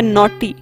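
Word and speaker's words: knotty: Complex या intricate या नॉटी। यहाँ पर के साइलेंट रहेगा, नॉटी।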